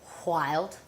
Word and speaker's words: WHYLD: So our last little segment is WHYLD, kind of pronounced wild.